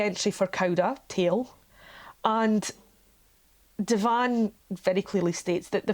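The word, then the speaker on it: de Vaan: So the next question that I had was about Deval. That's spelled D-E capital V-A-A-N, Devan, sorry, and discovered that Devan is Michel Devan,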